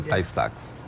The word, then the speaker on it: Tay-Sachs: A pronúncia é Tay-Sachs.